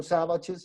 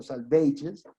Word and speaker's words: Salvages: Después sigue The Dry Salvages, que él lo hace pronunciar así, no Savages, sino Salvages.